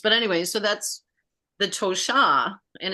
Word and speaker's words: Tosha: But anyway, so that's the Tosha, and it looks like Tosha, but it's pronounced Tosha. The accent, like yours, is one of the interesting layered names. I call it layered. But when you say Tosha with the accent on the end, it's in Lakota.